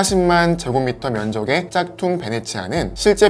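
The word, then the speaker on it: Venezia: 있다고 하네요 e 이탈리아 베네치아 흔히 영어식 발음인 베니스 라고 알려져 있는 이탈리아의 베네치아 는 일명 올해 도시로 유명한데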